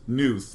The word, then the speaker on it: Knuth: And I'm pretty sure it's actually pronounced Knuth, but it's totally pronounced Knuth, okay?